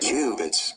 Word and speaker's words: qubits: Qubits.